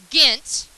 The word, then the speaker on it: Ghent: The war ends in 1814 with the Treaty of Ghent. The H is silent.